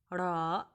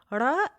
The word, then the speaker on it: ر: Ra is sort of like the counterpart of the English letter R, but it is closer to the rolling Spanish Ra, Ra, Ra.